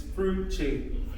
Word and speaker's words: Fruche: It's Fruche. I was close. FR from Frank and Uche from Uche Chuku.